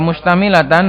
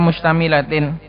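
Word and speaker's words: مشتملةٍ: mubasyaratan tusamma silatan mustamilatin, bacanya tusamma silatan, mustamilatan bisa, mustamilatin bisa. Kalau mustamilatin dia adalah naat dari jumlatin. Kalau mustamilatan berarti naat dari silah. Tapi lebih pas dibaca mustamilatin.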